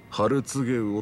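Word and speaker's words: 春告魚: お客さん、それはね、春告げ魚って読むんですよ。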